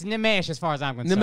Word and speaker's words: Nimesh: Nimesh Patel is my guy, but his name is Nimesh, all right?